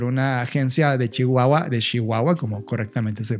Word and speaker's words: Chihuahua: yo invitado por una agencia de Chihuahua de Chihuahua como correctamente se pronuncia folklore Exacto Nacho de folklore que la